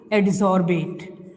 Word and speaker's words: adsorbate: Adsorbate, right? Like the solute or solvate. Its pronunciation is like the that only. Adsorbent, it pronunciated as the solvent, right?